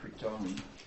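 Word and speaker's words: Κρίτων: I put up the actual Greek, so pronunciation, Kriton, actually the Greek would have been something like Kriton, the long O.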